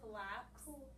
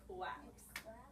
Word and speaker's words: collapse: collapse that's the word collapse collap that's the word collapse you have to get your l sound okay that's with the c c l okay but it's actually pronounced collapse it's not pronounced claps okay Max qu quilt